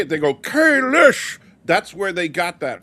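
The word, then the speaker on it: Kahless: Stan's question here about Holly Hunter teaching people how to pronounce Kalis because they say Kalish.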